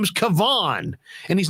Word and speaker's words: Kevon: maybe sit in your room and check this pronunciation guide bro i mean come on his name is kavon and he's not a rookie my goodness and